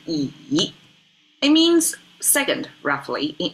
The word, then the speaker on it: 乙: This is pronounced as yi.